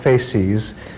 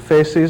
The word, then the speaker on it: facies: There was a characteristic facial appearance which orthodontists used to call the adenoidal facies, F-A-C-I-E-S. I'm telling you that because my pronunciation may be different to yours.